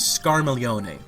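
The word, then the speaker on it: Scarmiglione: the character's name is scaron which involves that GL sounding like La thing that so many people have trouble with in Italian like Familia or battalia but uh yeah his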